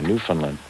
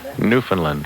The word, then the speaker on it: Newfoundland: Ed from Eastern Canada, Newfoundland. God bless him. Newfoundland. How do you spell that?